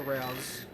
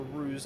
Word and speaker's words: ruse: It's all a rouse or ruse. It's ruse, isn't it? Yes, yes, it is. You Americans say ruse.